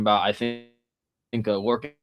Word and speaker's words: Lorcan: It is uh Lorcan.